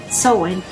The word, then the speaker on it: Samhain: The book says, Samhain, pronounced Samhain, means summer's end.